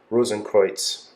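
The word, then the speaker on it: Rosenkreuz: but Christian Rosenberg um if you'd say it in German it's like rosencruits um but that this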